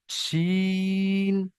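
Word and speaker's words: ش: জিভের মাঝখান আর তার বরাবর উপরের তালুর সঙ্গে লাগিয়ে একদম পুরো চেপে উচ্চারণ হবে। জিম, শিন, ইয়া।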